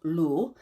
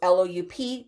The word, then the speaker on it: loup: so loop it's spelled loop which but it's pronounced lu so it's loup that equals wolf garu is shape shifting so